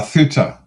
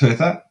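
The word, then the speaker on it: Ceuta: Uh, it's called uh thuta thuta. It's spelled, let me get this right, cu ta. Cut ta, but it's pronounced thuta in Spanish.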